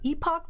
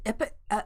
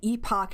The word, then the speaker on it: epoch: I prefer epoch to epic. People sometimes pronounce it like almost like the word epic.